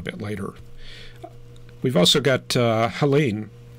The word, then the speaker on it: Helene: We've also got Helene, or if you want to go with a French pronunciation, that would be Ellen, I think.